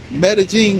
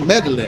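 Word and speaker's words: Medellín: You know, a lot of people call Medagene Medalin, and it's, you know, that's what I did at first, you know, and then that's like, oh yeah, Gringo.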